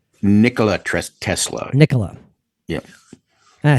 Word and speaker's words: Nikola: on a side note kind of do you pronounce it Nikolai Nikolai Tesla I I I said I said Nia I don't Nia did not sound right Nicola Tesla Nicola yeah and I think the reason